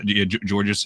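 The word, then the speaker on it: Georges: Dos Borzingis for um Gorgeous I keep on saying his name wrong. Um someone on TikTok made fun of me for for saying gorgeous. Um what was his name was? Um George Niang and I think another second round pick.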